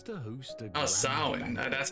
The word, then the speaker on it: Samhain: Once at Samhain, she was to host a Oh, grand Samhain, banquet.